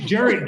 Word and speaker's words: Gerry: Actually, I learned now that you pronounce his name Gary, so if you want